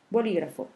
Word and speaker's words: bolígrafo: Si on a le mot bolígrafo, bolígrafo, on voit que c'est la antépénultième syllabe, la syllabe li, qui porte l'accent tonique.